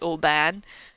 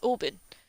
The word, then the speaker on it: Oban: was getting annoyed that people were pronouncing it Oban. It was an Italian guy, actually. He came in and was like, how's it actually pronounced? Because they're all arguing about it, and I know you just told them. And I was like, it's Oban.